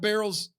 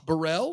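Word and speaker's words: Barrell: that's true I thought we were getting cat barrel uh we got cat Burrell which fine okay probably better probably better so time out cat barrels come out her last name is b u no Burrell no okay it is Barrel I thought Brian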